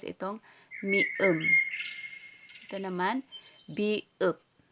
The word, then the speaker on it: 비읍: Binibigkas itong mium. Ito naman, biup.